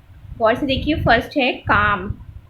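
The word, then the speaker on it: calm: पर आपका शब्द है कम यह आपका सी ए ल एम साइलेंट होता है इसको हम लोग प्रोनाउन इसका प्रनंसीएशन होता है कम इसको कम पड़ती है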